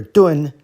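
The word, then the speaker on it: 頓: For our character Dun, Tun is serving as our phonetic component because it rhymes.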